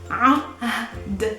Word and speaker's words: عهد: So let's try it together. عهد. Ahd, Ahd, Ahd.